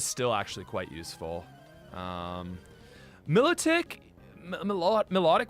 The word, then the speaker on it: Milotic: what what is up with that Milow tick Milotic ma Milotic Milotic yeah I know some people say it differently my lot tick okay we all say very differently uh Lon